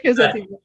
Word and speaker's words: Crescenciana: book that he just came out with is Crescenciana. I'm That's not pronouncing it. Is that right? you nailed it, Leanne. That's right. All right, Crescenciana.